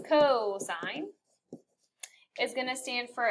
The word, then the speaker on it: cosine: Cosine, not cosine. So you would pronounce this cosine, is going to stand for adjacent over hypotenuse.